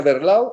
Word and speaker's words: Werlau: escritor y conferencista intelectual cubana maría werlau se pronuncia werlau overlap y se pronuncia maryland porque es alemán